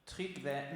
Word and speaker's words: Tryggve: I don't know how to pronounce but his last name is Mettinger, T&D Mettinger. Tryggve Mettinger.